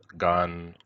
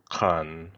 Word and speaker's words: qan: You can see the Nivkh word for dog is pronounced gan, khan, or gan in different contexts.